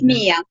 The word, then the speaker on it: Miia: It's Miia, thank you. Miia Miia.